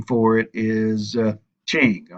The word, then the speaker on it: Qing: That technical name for it is Qing. All right, anytime you see a Q in China is usually pronounced with a CH.